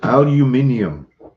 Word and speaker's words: aluminium: did i missed it aluminium yeah i forgot about that one what is that that's how some people pronounce aluminum seriously yeah i don't